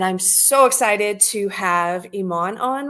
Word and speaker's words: Iman: and how do you say your name exactly Iman last name andj and that's the part that